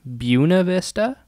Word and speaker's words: Buena Vista: taco tuesday there it's called uh buna vista it's spelled like buena vista and there's a brewery